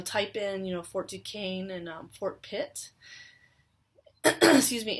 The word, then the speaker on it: Duquesne: looks like it's spelled fort duquesne but it's pronounced port duquesne i'm told and it is at a point